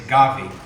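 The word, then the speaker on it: قوی: word that defines strong it's gavi rhymes with Savvy um and it means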